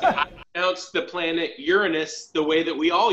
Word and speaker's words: Uranus: They're like, dude, did you pronounce it Uranus? And I said, that's technically the correct way.